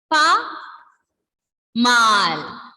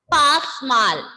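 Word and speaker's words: pas mal: Now, second one is pa mal. Second one is pa mal. Here this S will be silent. Here this S will be silent. We will not pronounce it as pasmal.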